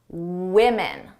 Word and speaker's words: women: The difference is at the beginning of the sound woman. Women. Whoop, with woman women. I hired one woman and fired, two women Eastern European students.